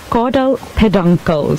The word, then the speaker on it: caudal peduncle: so just to clarify to some people it's caudal peduncle so you would spell that CA UD al caudal which is also